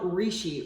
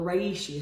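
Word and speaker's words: Reishi: I started with one called Rishi or Rai a sheet however you want to pronounce it REI Shi and I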